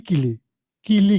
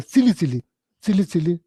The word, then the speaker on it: kili kili: So you are supposed to say Om Kili Kili, Kili Kili. You are supposed to, that's the correct way to pronounce Kili Kili. And that person is pronouncing Silly. And people are saying a long time. So then somebody says, oh, you are pronouncing mantra incorrectly. You are supposed to say Kili Kili, not Silly.